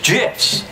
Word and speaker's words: GIF: gifts it's an acronym acronyms pronunciation is determined by the creator of the same acronym like a proper name in this case the creator of the graphics interchange format Steve Wilhite says it's gifs choosy developers choose gifs